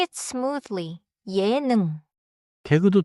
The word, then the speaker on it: 예능: 예능 has two syllables. 예능. Say it smoothly. 예능.